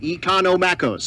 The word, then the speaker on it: Economos: He told he found me one time and he was like, "Here's how you say it. Economos."